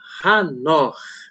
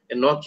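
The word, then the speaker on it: חנוך: E nós vamos falar um pouquinho hoje sobre Hanor. Né? De fato, esse é o correto, é a pronúncia correta, né? Enoch é o brasileirado, aportuguesado, né? Em inglês é Enoch, né? Mas o certo é Hanor.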